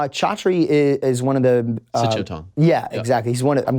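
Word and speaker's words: Sityodtong: Sichotong. Yeah, exactly. He's one. I'm glad you knew how to pronounce his last name, because there was no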